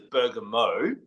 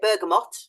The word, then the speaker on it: bergamot: that as well now I started off by introducing it as Burger Mo now how do you say yeah I don't say it like that I say burgot yeah right go backward and forth you hear lots of discussions back with them for I actually think bergot might be correct but either either we